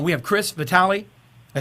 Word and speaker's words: Vitali: your names uh correct U we have Chris Vitali I say it right Chris yep all right